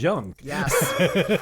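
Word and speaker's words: Jung: we know of is Young and and many many young pagans no pun intended don't understand that um by the way it's spelled j-u-n-g for those when it's young yeah um and it's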